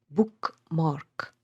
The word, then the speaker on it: bookmark: An example would be bookmark. So here both syllables are stressed.